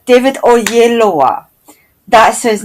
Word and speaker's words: Oyelowo: But I only recently learned how to say his name because he pronounced it for me. It was like he was amongst Nigerians and he pronounced his name correctly. But he's been going around telling us white people that it's David Oyelowo. Oyelowo. Oyelowo. Right, that's it.